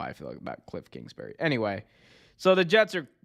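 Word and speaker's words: Kliff Kingsbury: Cliff Kingsbury, that's how you say his name.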